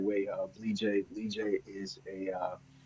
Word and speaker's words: Bleejay: Name is Bleejay. I'm glad, so everybody's able to pronounce it and say it the right way. Bleejay. Bleejay is it's a Bassa name from the Bassa tribe in Liberia.